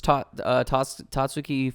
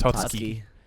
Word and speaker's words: Tatsuki: quickly said Tatsuki. Tatsuki. Yeah. So I don't emphasize the U.